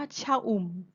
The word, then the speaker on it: ชอุ่ม: หรือ ไม่ ประวิสรรชนีย์ คะ เรา ออก เสียง ว่า ชอุ่ม ไม่ เห็น รูป สระ อะ ต้อง เป็น คำ ที่ ไม่ ประวิสรรชนีย์ ต่อ ไป ค่ะ ลูก